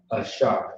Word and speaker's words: Ashar: Do you know how to pronounce it? That's right. Shaw. Ashar.